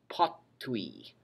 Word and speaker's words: potui: However, the difference with the perfect tense is that the F disappears, or what's called elides away. It elides out. And you're left with just this, potui.